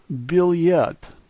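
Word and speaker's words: билет: The first letter is a B. It looks sort of like a B. The second letter is a double E sound. The third letter is an L. The E sounds like E and T sounds like T. So this word is billet, billet.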